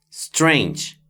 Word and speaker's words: strange: The word strange has two written vowels, but only the letter A makes a sound. The letter E is silent. This makes strange be short and have only one syllable.